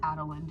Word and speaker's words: Adolin: I'm always like, it's gonna be super complicated to pronounce. Like, Adolin, it's just Adolin, dude.